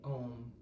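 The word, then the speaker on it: Aum: There are moments when I've reached when I've been in a circle with others chanting om a u m has three syllables where I felt we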